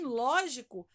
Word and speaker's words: lógico: Mas em lógico, a sílaba tônica é o ló, é a primeira sílaba ou a antepenúltima, né?